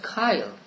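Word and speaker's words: chyle: c-h-y-l-e how do you it is pronounced kyle please look it up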